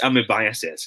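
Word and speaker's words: amoebiasis: a smirking face okay it should be pronounced as amibiases if you are to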